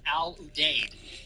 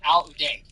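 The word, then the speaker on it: Al Udeid: you're pronouncing it the way it's pronounced in Arabic.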